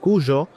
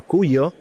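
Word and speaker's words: Cuyo: to Argentina to the region of Kujo or Kuyo, uh, depending on how to how you pronounce it on your countries in your countries because Argentina is looking to push regulation.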